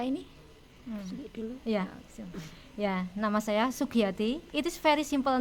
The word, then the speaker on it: Sugiyati: But sebenarnya simple kan, Sugiyati ya, tapi masih banyak pengejaan yang salah ya.